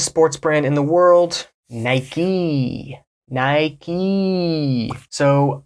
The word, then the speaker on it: Nike: brand in the world Nike Nike so I was shocked to hear when I first traveled to Europe people say Nike I lost so Nike is an American brand and we pronounce it Nik like a key Nike